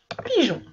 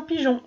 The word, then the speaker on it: pigeon: Alors comme dans pigeon, le E je ne le prononce pas, mais je suis obligée de le mettre pour indiquer que le G va chanter J.